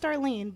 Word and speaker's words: Starline: am on Twitter at Star Line X and I'm on Instagram as Star Line pronounced Darlene but for spelling purposes Starline yes the best that most